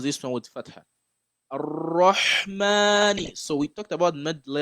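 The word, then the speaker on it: الرحمن: You have to pronounce it with your mouth closed, curved, and you have to give it the shadda as well, right?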